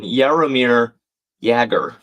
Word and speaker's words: Jaromir Jagr: Oh, and Blake correcting my pronunciation. Jaromir Jagr.